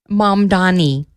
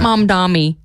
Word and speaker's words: Mamdani: Mom Donnie, not mom Dammy.